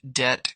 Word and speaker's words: debt: Silent B, doubt, debt, climb, thumb, lamb.